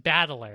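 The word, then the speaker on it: 戦人: But his name is literally the kanji for fight and then person, which... that's why I have a note that says, my name is Fight Person. That's... But it's pronounced Battler, and so all the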